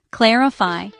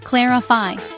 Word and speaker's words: clarify: Notice the stress is on the first syllable. Listen closely. Clarify. Now you try. Repeat after me. Clarify.